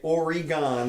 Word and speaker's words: Oregon: Well, go ahead, Oregon. Yeah. So anyway, or I should say Oregon. That's how they like it pronounced.